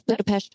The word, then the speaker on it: Budapest: Because Peter was actually born in, I know that everybody hates how I say this, but I'm still going to say it correctly, Budapest. Budapest. No, it's Budapest, Hungary.